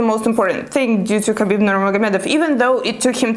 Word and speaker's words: Khabib Nurmagomedov: is a quote by khabib or habib nurmagomedov the right way to say his name is khabib nurmagomedov and in this video